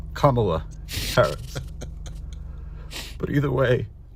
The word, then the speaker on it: Kamala: it opened its mouth and said, "Vote for Camala Harris." And it died before I could correct it and say it it's pronounced Kamala in Paris.